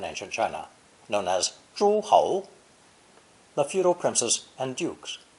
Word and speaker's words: 侯: This character is pronounced second tone, ho, ho.